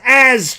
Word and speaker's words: Jazz: Here is As Chisholm. Again, the J is silent. It's just As Chisholm.